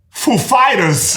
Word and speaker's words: Foo Fighters: like he said he asked us if the accent was on foo or fighters and we know who is like of course we know how he speaks and we said the accent is on fighters actually so he asked I'm